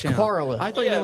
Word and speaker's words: Corolla: you down in the Outer Banks, that city, that little piece of the beach, Corolla? How do you say it? Coral. No, How do you s- Corolla.